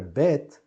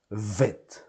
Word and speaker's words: bet: dot inside, that means that this letter bet is going to sound bet, bet, bet. If we didn't have this dot, it would sound vet.